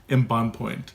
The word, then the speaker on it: Embonpoint: Embonpoint, is that right? Yes, actually, and the English pronunciation would be embonpoint. Embonpoint. But in French, it's embonpoint, which means plump.